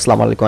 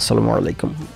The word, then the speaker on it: আসসালামু আলাইকুম: এই কারণে হাসাহাসি করতো, সবাই বলে সালামু আলাইকুম, আমি বলতাম আসসালামু আলাইকুম, ছোটোবেলা থেকে আমার বাবা মা আমাকে এভাবে শিখেছে শুদ্ধ উচ্চারণে বলা।